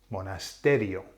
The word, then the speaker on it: monasterio: the word monasterial okay that word ends with IO so you think what happens is then it's a nose rule so does it fall on the I no the I and the O count as one so the emphasis falls on the a monasterio okay now I'm